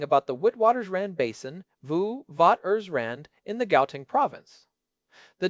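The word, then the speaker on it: Witwatersrand: We are talking about the witwaters rand basin vu vat ers rand in the gaoing province.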